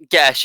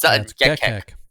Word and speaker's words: Gekek: I'm like, no, they sound similar, but it's not Gesh. It's Gekek.